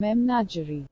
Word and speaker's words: Memnagerie: Memnagerie is how it's pronounced in English, is how this says. Memnagerie.